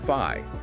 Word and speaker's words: Phi: Looks like the Greek letter Phi, but the meaning, the pronunciation, totally different.